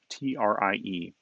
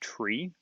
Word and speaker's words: trie: But the word actually comes from the middle of the word retrieval, and which is pronounced retrieval.